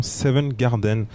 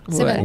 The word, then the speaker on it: Seven's Garden: Exactement, Seven Garden. J'ai bien prononcé? Seven's.